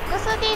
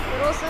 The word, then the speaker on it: XD: あ、 XD じゃなくてクロス D って読むんですね。